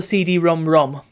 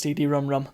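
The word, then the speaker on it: CD-ROM²: example it's called a CD ROM ROM there you go um I don't know why it's spelled CD ROM squared but it's pronounced CD ROM ROM very weird and um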